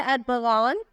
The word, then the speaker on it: Armghan: नाम है अरबगान। स्पेलिंग है ARMGHAN।